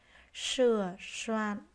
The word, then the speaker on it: sửa soạn: Sửa soạn. Cả hai tiếng này khi đọc các em cần lưu ý phát âm sờ.